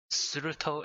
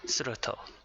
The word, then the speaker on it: Surtr: Right, Surtr it is. Surtr.